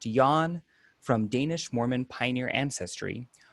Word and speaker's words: Jan: Born in Provo while parents were attending BYU, Jan Curran, pronounced Jan, from Danish Mormon pioneer ancestry, was raised Mormon by devout but eccentric parents.